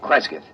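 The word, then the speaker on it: Cresgyth: record it instead as um well, I'll I'll spell it. C R E S G Y T H Kresith.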